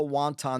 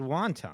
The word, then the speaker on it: wanton: Wanton, yeah. You said wonton. I know, I mispronounced it.